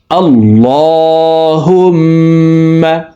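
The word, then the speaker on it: اللّهُمَّ: তো আপনারা চেষ্টা করবেন আরবি দেখে সঠিকভাবে উচ্চারণ শিখার জন্য। আল্লাহুম্মা।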